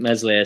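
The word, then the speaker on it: Meslier: no wrong i think mesli silent s may be worried about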